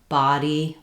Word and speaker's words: body: So typically we spell A with letter O in American English. Body, problem, job, not. All of these have the a sound.